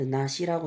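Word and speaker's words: 梨: 그 나시라고 읽어요. 그리고 음으로는 리라고 읽어서 리카 배의 꽃이란 의미로도 쓰입니다.이 정도만 알고 계시면 될 거 같아요.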